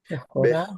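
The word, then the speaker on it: בכורה: Bechora. Bechora. Bechora. Now we have an open syllable that's stressed, Now the ambiguity is gone. Bechorah is an open stress syllable. It has to be ah.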